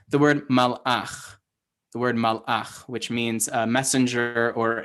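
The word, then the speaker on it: מלאך: The word malach, which means a messenger or an angel, right, has two shva nachs. It's got a shva at the end of the first syllable, mal, and so that's silent.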